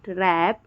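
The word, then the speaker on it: wrap: W silent हो जाता है। जैसे कि wrong, right, wrong, right, रैप, रैपर, wrinkle और रिस्ट।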